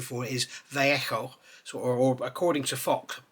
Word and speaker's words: Vallejo: I call it Vallejo. It's actually, the correct pronunciation for it is Vallejo. So, or according to Fox, Vallejo, because the Spanish don't say V, they say B.